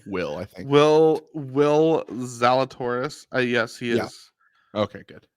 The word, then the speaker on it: Zalatoris: experience to be enjoyable so yeah is Will zal Cloris gonna be golfing this year what's that will zal Cloris that's his name right will I might have pronounced it wrong will I think will will zalatoris yes he is okay good yeah he's my